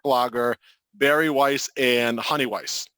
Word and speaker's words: Weiss: Berry Weiss, and Honey Weiss, or Weiss if you're German, if you want to pronounce it that way.